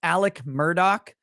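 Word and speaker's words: Alec Murdaugh: is how it's spelled Alex murdaugh and is pronounced Alec Murdock so the guy's name is a lie I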